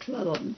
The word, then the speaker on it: Cleland: He pronounced it Cleland because he came to Duke's directly from Scotland.